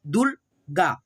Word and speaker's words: दुर्गा: जैसे यहाँ पे देखो दू है और ग पे रेफ है, यानी कि ऐसे ऊपर वाला, तो सबसे पहले आधा र पढ़ेंगे ग से पहले, दुर्गा, दुर्गा, ठीक है।